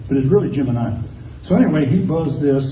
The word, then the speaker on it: Gemini: the way gim I said Jim it's actually pronounced Gemini correctly and NASA tried to make everybody pronounce it gimini for a long time and then gave up and started saying geminy but it really Gemini so anyway he buzzed this so but he